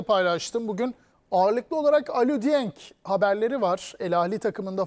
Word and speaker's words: Dieng: Bir defa biz telaffuzu çok dikkat ederiz ya Kerem. O Dieng diye okunuyormuş.